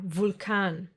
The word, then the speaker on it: Vulkan: But sometimes, just sometimes, it will be pronounced like the German W. Remember? V. Like in the words vampire or Vulkan.